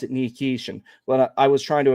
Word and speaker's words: Nikishin: The reason why I was pronouncing it nikish before when I would watch the footage, when